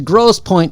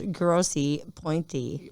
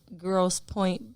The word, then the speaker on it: Grosse Pointe: Okay, we're going to Grosse Pointe, Michigan, which is way down here. It's spelled gross with an E at the end and point with an E end. So it's grossy, pointy.